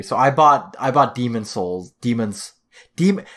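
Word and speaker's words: Demon's Souls: I bought I bought Demon Souls demons de it's there's an S at the end of demons but like it's really hard to pronounce the next word starts with s as well so um Demon Souls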